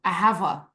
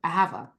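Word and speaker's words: אהבה: like oh my God love Hebrew aava that's how you pronounce love in Hebrew aava oh aava like aava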